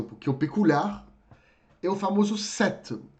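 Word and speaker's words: cet: eu peculiar Eu famoso setto que se escreve c e t que se fala como sete como aqueles sete do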